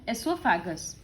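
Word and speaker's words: oesophagus: ओ silent pronunciation में आ रहा है, एसोफैगस।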